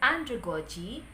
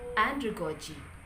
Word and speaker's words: andragogy: there are four for andragogy there are four syllables so anthrocochi the same with pedagogy pedagogy each of these words the primary stress falls in the first component so andre kochi and pedagogy okay pronounce it